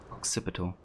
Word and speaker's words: occipital: back i see uh occipital would be um how it's pronounced occipital okay which is uh j